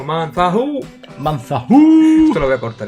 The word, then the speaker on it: Manzajú: Manzahu. Manzahu. Que tiene ese acento en las tres, ¿no? Manzahu.